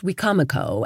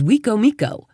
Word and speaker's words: Wicomico: Anyone who would pronounce Wicomico as Wicomiko.